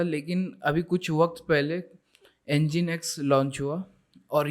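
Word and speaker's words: nginx: जो सबसे ज़्यादा पॉपुलर है वो ये दो है, नागिन एक्स, I mean एंजिन एक्स इसको प्रोनाउंस किया जाता है, नागिन एक्स नहीं।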